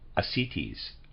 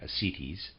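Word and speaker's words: ascites: bloated abdomen with slight assitis readers aside i'm i'm pronouncing that it's a s c i t e s forgive me i'm pronouncing that asities end of readers aside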